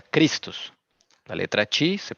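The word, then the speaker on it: Χριστός: griego christos o sea esto se pronuncia cristos la letra si se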